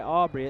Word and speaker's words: Abri: It does go by Aubrey. It's spelled Abri, so it's Aubrey Moreno, batting .329, 85 at-bats, 28 hits.